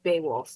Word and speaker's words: Beowulf: Beowulf, yeah.